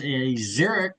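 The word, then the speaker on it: Xeric: Neo is a Zurich, am I pronouncing that right? A Zurich Zerich Award.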